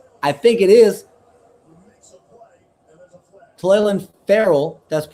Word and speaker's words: Clelin Ferrell: Clelin Ferrell, that's how you pronounce it, out of Oregon, got a piece of it.